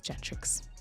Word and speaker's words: Gentrix: So, for those of you who might have been listening thinking, how the heck do you pronounce this girl's name? It's Gentrix.